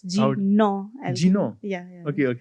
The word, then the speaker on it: Jina Alchemy: First of all, it's not pronounced Jina Alchemy. It's Jino Alchemy.